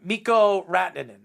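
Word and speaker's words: Mikko Rantanen: pronounce his name um mikko ratnan not panera slightly only because i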